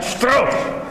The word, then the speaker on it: Strauss: Mi faccio un'ultima domanda, lo so, Levi Strauss. Strauss, si pronuncia Strauss.